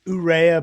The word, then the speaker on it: Urrea: do i have that do i have the pronunciation on that right uh it's it's urea but yeah that's that's right with me i'm